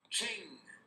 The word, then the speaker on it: Ching: how do you say King going to Google pronunciation of King Ching c h i g ching